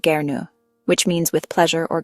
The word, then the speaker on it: gern: Here the waiter uses gern pronounced gnu which means with pleasure or gladly.